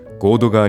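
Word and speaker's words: 神戸川: 風景は鎌倉を流れる神戸と書いて合戸と読む合戸川に架かる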